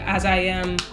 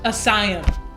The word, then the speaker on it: As I Am: shower I used my as I am co-wash and that's all used for the longest time I thought that brand was parent pronounced Asylum I did not realize there were spaces in between but if you take